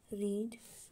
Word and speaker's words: read: पहला है READ रीड। दूसरा है READ, इसका स्पेलिंग तो पहले वाले की तरह है लेकिन पर इसको बोलते हैं रेड, ठीक है।